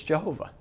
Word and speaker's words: Jehovah: the name of elohim it's jehovah okay what's the name it's always always no matter who argues with you this is how you pronounce it okay there's no you